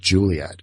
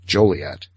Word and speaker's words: Joliet: Everyone kept calling it Juliet, and they put a law on the book saying, no, the proper pronunciation is Joliet.